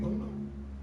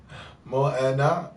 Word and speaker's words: Moana: There's a movie named Mona. You bullshitting. It's a Disney movie. And pronounced Moana.